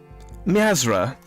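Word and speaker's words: Miazrqa: m m MIP mipan mzra with a silent queue I see there is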